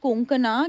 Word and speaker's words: कोंकणा: मिलते हैं तो वो आपका नाम सही से प्रोनाउंस करते हैं। और आई एम श्योर अगर आपको कोई पंजाबी मिले, वो हमेशा कंकना बोलेगा। कंकना, कोंकणा, क्यों साउथ में तो कणकणा नहीं भी बोले।